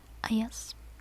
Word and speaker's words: Ages: My real name is, and people would give me nickname Aya, and Ages is actually supposed to be pronounced Ayas in my language, and S is just the first letter of my last name.